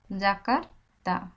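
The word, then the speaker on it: Yakarta: না তখন হয় মানে একটু জ এর মত উচ্চারণ হয় কিন্তু ভিতর থেকে প্রথমে শুরু হয় অন্তস্থিয় ঠিক ওইভাবে জাকারতা লাকার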